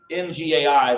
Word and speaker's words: Ngai: But they have their own basically creation story where God, it's Ngai, they pronounce Guy, but it starts with that N sound.